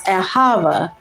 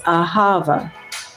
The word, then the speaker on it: ahava: And the word for love is ahava. A h a v a h. It is aava.